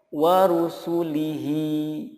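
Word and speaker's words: ورسله: Contoh berikutnya warusulihi. Nah, ketika wakaf dibacanya menjadi warusulih. Warusulih, haknya disukunkan.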